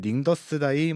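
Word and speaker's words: 宁德时代: 중국의 catl이라는 회사가 있거든요 중국식 발음으로 하면은 링더스다이 뭐 유한 어쩌고 이렇게 나가게 되는데 catl이라고 지금 많이 부르고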